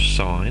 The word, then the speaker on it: sin: x equals s is sin of sign as we say it correctly now with that you